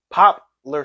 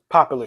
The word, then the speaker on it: Poplar: The right way, Poplar Street. Philly, Popular Street.